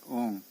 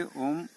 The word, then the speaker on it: ओम: तो जो पीड़ा नाड़ी है वो पूरे दिन भर आ का उच्चारण करती है, एक स्वर से आ। और सुषुम्ना नाड़ी ऊ का उच्चारण करती है, ऊ। और ईड़ा नाड़ी अर्थात सूर्य नाड़ी वो माँ का उच्चारण करती है। तो इन तीन शब्दों का मेल हुआ ओम, इसको कहते हैं नाम।